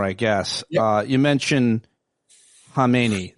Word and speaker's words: Khamenei: You mentioned Khamenei. The K is silent. It was silent.